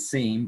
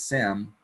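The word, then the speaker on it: SIEM: this term and it's pronounced sim some people pronounce it seen but I pronounce it sim and it's a security information Event Manager or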